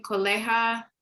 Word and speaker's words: colega: Mi colega, hard G. Colega, ¿por qué? So remember, G, just like C, can either produce a hard or a soft sound. And it's hard with ga, go, or gu.